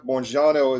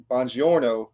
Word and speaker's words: Jeff Buongiorno: Uh Jeff Bourjano is gonna Bonjouro I should say is how you say it. I just remember Banji. I can say it right.